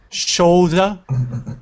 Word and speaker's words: shoulder: Shoulder. Shoulder. Shoulder. Good. Make sure with that at the end, it sounds like an R.